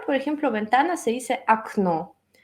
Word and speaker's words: окно: Por ejemplo, ventana se dice окно. Y tú sabes, entonces la segunda O es acentuada, la primera O no está acentuada, entonces se pronuncia como A.